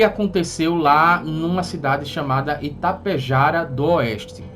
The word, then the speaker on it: Itapejara d'Oeste: O relato do Christian, que aconteceu lá numa cidade chamada Itapejara do Oeste. Itapejara do Oeste, né? Esse D aí é mudo, tem um apóstrofo ali.